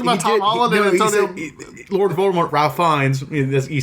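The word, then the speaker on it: Fiennes: did he talked about Tom Lord Voldemort Ralph Fines he said it in the video he said fines it was in the first video for Ralph Fines pronunciation Wow.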